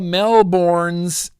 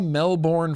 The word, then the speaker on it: Melbourne: It's funny because we do have a Melbourne, Florida. And we say Melbourne, Florida, unless you're Australian, and then you say Melbourne, Australia, Melbourne, not Melbourne. I'm an American. I say Melbourne.